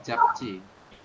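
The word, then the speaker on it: 잡지: Dibacanya menjadi japji.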